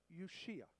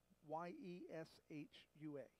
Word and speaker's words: Yeshua: Jesus' name in Hebrew, also in, by the way, in Aramaic, it's almost the same. It would be Yeshua. And that's, if we were to spell it in English, it would be Y-E-S-H-U-A, Yeshua.